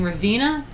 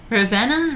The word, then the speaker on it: Ravenna: he was correcting me so much about my pronunciation last time and um apparently i'm saying this wrong too i was saying ravina ravana anyway so about 80 miles north of vena